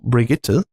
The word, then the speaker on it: Brigitte: We have now Brigitte, which is, I think at least that's the German way to pronounce it.